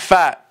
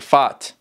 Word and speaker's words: فات: This is not fat, okay? This is just how you pronounce it, فات. So maybe double A will be more fat, not fat, fat.